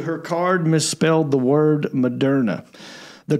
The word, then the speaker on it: Moderna: Her card misspelled the word Moderna.